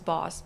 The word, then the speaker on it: Bosch: It's not Bosch, it's Boss because he was Hungarian. It's pronounced Boss.